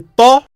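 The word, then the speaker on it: ط: Et Ta, comme tu l'entends, est aussi un T emphatique. C'est pas comme la lettre T dans l'alphabet français. C'est un Ta. La même manière que l'on prononce le Da, le Ta, le son reste dans la bouche, avec la langue ayant un contact sur le palais.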